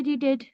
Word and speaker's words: read: आई रीडेड। रीड का past tense होता है, V2 होता है रेड। V2 होता है रेड, स्पेलिंग वही होती है READ, लेकिन पढ़ते हैं रेड।